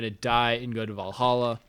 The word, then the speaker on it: Valhalla: die and go to valhalla or valhol how they say in the movie which is like the more accurate pronunciation um and so he